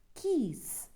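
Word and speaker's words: quays: and loaded or unloaded remember it is pronounced as keys the moon has a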